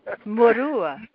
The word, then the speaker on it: Murua: But how does Jose pronounce his last name? Murua.